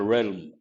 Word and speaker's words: realm: A realm. L is silent.